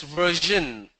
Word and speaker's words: version: VERSION is pronounced as version. Another example of ZH sound.